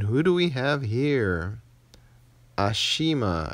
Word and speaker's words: Ashima: Ashima, I think. Not Ashma. I got a lot of complaints that I was saying her name wrong.